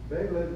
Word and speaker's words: Belém: Now, we're coming up with the auspices of the party, COP number 30 in Belém, Brazil, that's how they pronounce it.